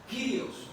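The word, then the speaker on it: κύριος: parece ser curiosos única esa letra u se pronuncia como una y una y una ye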